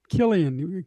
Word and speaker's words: Killian: really I didn't No, it's pronounced Killian K. It has a K sound.